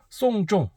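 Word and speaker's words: 送钟: 좀 자 쏭 쪽 이게 시기를 보내다 는 뜻인데 쏭 쫑 장례를 치른 달하는 발음과 똑같습니다 그래서 시계는 않으시는 게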